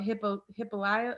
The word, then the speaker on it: Hippolyta: I think they're more worried about Hippolyta.